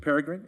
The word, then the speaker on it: Peregrine: How do you pronounce that? Yes, Peregrine is the correct, yeah.